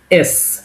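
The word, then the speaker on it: С: আমাদের সি, আমরা সবাই জানি সি, বাট অ্যাকচুয়ালি রাশিয়ান এটাকে আমরা বলবো এস। রাশিয়ানে হয়ে যাবে এটা কি এস, উচ্চারণ হয়ে যাবে এস এর মতো, এস। সেটা বাংলা উচ্চারণ হবে স এর মতো, এস।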